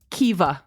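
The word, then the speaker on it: Caoimhe: e and it's pronounced Kea there's no V in that word there's no like e well there's an e at the end but it looks like K and it's pronounced Kaa so another example is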